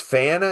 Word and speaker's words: PFANA: We pronounce that FANA, P-F-A-N-A, FANA, People for a New America.